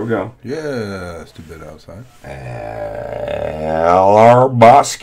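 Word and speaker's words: Hrabosky: go yeah yeah yeah our Bosque H is silent we're calling H and the R is silent no hrabowski our Bosque st.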